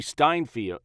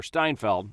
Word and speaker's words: Steinfeld: this show played by Haley steinfield or Steinfeld I always say her name wrong Haley Steinfeld she played Kate Bishop